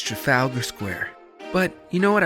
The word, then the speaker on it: Trafalgar Square: The right way to pronounce the name is Trafalgar Square.